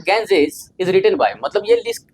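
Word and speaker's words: Ganges: अब यहां पर बहुत सारे लोग इसको गलत पढ़ता है। कहता है गंगेज पढ़ लेता है। बल्कि इसका जो प्रोनाउंसिएशन हुआ गेंजेस होता है।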